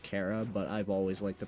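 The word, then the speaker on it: Chara: the first human's name, yes, I know it's pronounced Cara, but I've always liked the pronunciation car more.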